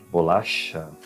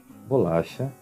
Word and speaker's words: bolacha: Então, em espanhol, essa pronúncia será ch. Em português será sh.